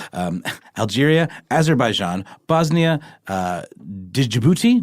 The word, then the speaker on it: Djibouti: Algeria aeran Bosnia uh Djibouti jibou yes that's the D is silent Egypt Ethiopia Gambia Israel